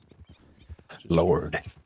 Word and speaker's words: Lorde: Lord. Yes. Uh, yeah. Spelled with an E on the end, though.